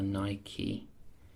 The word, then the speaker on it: Nike: let's go iPhone this time only just uh Nike this time or niky depending on how you want to pronounce it so just uh this one iPhone